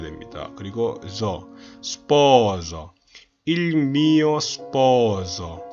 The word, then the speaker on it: sposo: sposo 할 때 O와 O 사이에 있는 S는 유성음 S입니다. 최대한 부드럽게 목을 울려서 내줘야 됩니다. 그냥 시읒이 아니고 마치 지읒으로 들리는 시읒 발음으로 해줘야겠죠. 대신 이걸 스포조라고 하시면 안 됩니다. 스포조는 다른 발음이에요. S 발음이 아니에요.